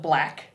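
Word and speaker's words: Blaque: so we do uh we call it black spelled with a q-u-e b-l-a-q-u-e right so it's just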